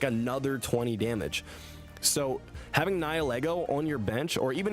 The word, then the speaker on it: Nihilego: I'm not trying to trigger people and make them upset, but I actually just don't know the pronunciations. Nihil ego.